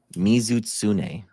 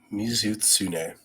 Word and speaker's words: Mizutsune: Our first one we got Dan in Monster Hunter or heavy metal band is Mizutsune. Mizutsune. Mhm. Can you spell that?